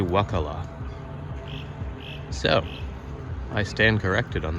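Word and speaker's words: Wakulla: I've been saying Wakula. It's actually Wakala.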